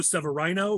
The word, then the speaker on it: Severino: announced candidate in IL10, Joe Severino, which is now the official way to say his name.